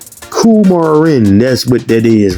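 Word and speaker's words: coumarin: Carin I ain't even saying it right. Cumarin that's cumarin. Kumarin.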